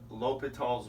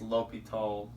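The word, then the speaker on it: L'Hôpital: He was a French mathematician, but I believe it's L'Hopital. But if any of you speak French, sorry if I butchered that.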